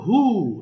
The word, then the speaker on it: who: not why এরপর আছে who এখানে আবার H এর উচ্চারণ করতে হবে who এরপরে which এটাতেও